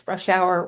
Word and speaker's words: Frushour: And just so everybody knows, Frush Hour rhymes with rush hour.